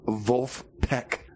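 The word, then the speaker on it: Vulfpeck: Oh my gosh, you can't even say it. Wolf Peck. And that's spelled V-U-L-F-P-E-C-K.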